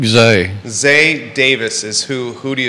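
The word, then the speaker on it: Xay: How do you say his first name? X-A-Y. I think Zay.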